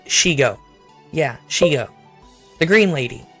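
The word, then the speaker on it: Shego: It's pronounced and spelled Shigo. Yeah, Shigo. The green lady, right? Shigo. For some godforsaken reason, the Scuff Queen wants to call it Shiego.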